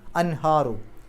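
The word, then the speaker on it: أنهار: വസിൽ ആയതുകൊണ്ട് അൽ അൻഹാറു ഹാന്റെ മുമ്പ് സുക്കൂനെ നൂന് ഇളഹാർ ചെയ്യുക വെളിവാക്കി പറയുക അൻ എന്നുള്ള ശബ്ദം പുറത്തേക്ക് കേൾക്കണം അൻഹാറു അപ്പൊ മസാക്കിന അവിടെ തൻവീൻ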